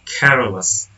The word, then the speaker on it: careless: Example 2, careless. The suffix less attached without affecting stress placement. The stress syllable in care remains stressed in careless.